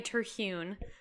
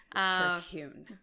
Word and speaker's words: Terhune: all, because I don't even know that I'm pronouncing it right, you know? You say it. I say Terhune. Terhune.